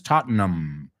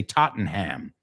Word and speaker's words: Tottenham: It's not ham, it's Tottenham. I'm saying it because most Americans would say Tottenham, Derbyshire, and it's Derbyshire, Tottenham.